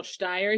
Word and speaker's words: Shteir: We're so lucky to have author Rachel Shteir here.